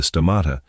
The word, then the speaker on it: stomata: It controls the opening and closing of the stomata, pronounced sto-mata, the plant's lungs.